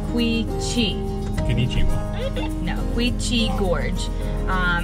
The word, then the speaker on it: Quechee: So it's pronounced Quechee.